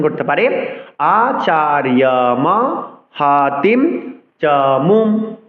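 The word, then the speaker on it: আচার্যম্: এবার আকে আমরা পরের ছত্রের সাথে যুক্ত করে উচ্চারণ করতে পারি আচার্যম হাতিম চমুম 8 অক্ষর। আবার বলছি আচার্য, অন্তস্থ যাকে ইয়র মতো উচ্চারণ করতে হবে।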